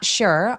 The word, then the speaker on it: sure: 그리고 여러분이 sure 발음은요라고 두 개로 나눠서 발음하지 않고요. 하나의 소리로 sure라고 sh로 발음해 주세요.